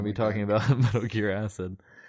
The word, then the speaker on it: AC!D: It's like It's like acid.